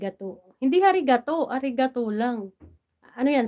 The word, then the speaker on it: arigato: maging Manananggal Joke lang Ayan Kumusta naman diyan harig Gato hindi harig arigato lang ano yan silent h silent silent h